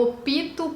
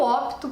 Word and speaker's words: opto: nós vamos dizer eu opto pela cor amarela porque esse pé mudo então a gente não vai colocar esse som do hino na frente dele e fazer disso uma sílaba faltam mais duas palavras